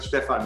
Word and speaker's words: Stephan: Should we call it Stephan? Stephan, yeah. Okay. But I think when it's German, it shouldn't it be Stephan or not? Stephan. Yeah, I wouldn't stress the exact pronunciation, but Stephan is perfect.